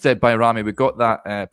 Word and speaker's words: Bajrami: uh Nadim bami and uh uh and it's pronounced byamy we got that pronunciation from an Albanian football expert that we had on to discuss Nadine bamy that is how you pronounce his name not baj Rami so uh there you go and uh he